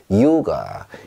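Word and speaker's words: Yoga: 다른데 우리가 생각하는 그 입실론, 영어로 치면 Y의 발음은 앞에 나왔을 때입니다. 요가, 요가 이렇게 읽어주시면 돼요.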